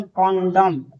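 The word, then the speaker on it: condemn: यहाँ एन क्या साइलेंट है। CONDEM एन यानी कॉन्डम, कॉन्डम, कॉन्डम पढ़ेंगे, कॉन्डम नहीं यानी कॉन्डम, ये क्या है, एन साइलेंट है।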